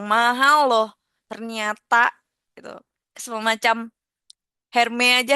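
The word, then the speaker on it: Hermès: Semcam Herme aja. Hermes, hermes itu bacanya herme gitu ya.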